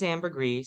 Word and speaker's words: Amber Gree: today my name is Amber Gree like Amber and grease she pronounces clearly that's